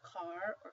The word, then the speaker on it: caro: This one would be pronounced carro, whereas this one is caro. So that's how they make the distinction between the two words, carro, caro.